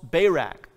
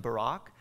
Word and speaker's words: Barak: And she is the one who calls Barak. By the way, this is probably something closer to Deborah and Barak.